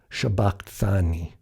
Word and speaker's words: shabaqthani: in matthew is now if we allow the sigma to be pronounced as a shin as aramaic speakers would know they would say eli eli lama shabbat thani very close to the